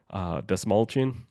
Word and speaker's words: Desmalchin: And then David Desmalchin, Yep. right? That's, Yep. that's how you say his name, Pretty much. Desmalchin. Yeah, you got it.